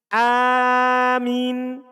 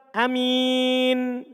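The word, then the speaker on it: آمين: Mimnya tidak tasdid, hamzanya panjang. Amin. Pertama. Kedua, amin. Hamzanya dibaca pendek. Amin. Dan mimnya tidak ditasdid. Tidak ditekan.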